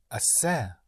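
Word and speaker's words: hacer: Asser. Assayer. H A C E R.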